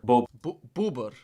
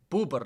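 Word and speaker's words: bóbr: Bober. Boober. Not bober. Booer.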